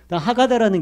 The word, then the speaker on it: 하가다: 하가다라는 게, 하가다는 뭐냐면 계속 읊조리면서 암송하는 거예요. 마치 우리나라 노인네들이 예전에 했던 것처럼 그런 한문 외울 때 했던 거 기억나십니까? 이 어린애들이 앉아서 이거 암송하는 거예요. 하가다 이렇게 발음하는데, 테필리는요, 박스를 여기다 이렇게